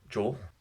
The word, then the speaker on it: Joel: Did you say my name with one syllable or two? Joel, one.